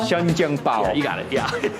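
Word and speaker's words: 生煎包: Started rain downpouring again, but we're at the next spot, and we're gonna eat something which is called shajiangbao. Close. 生煎包. Shajiangbao.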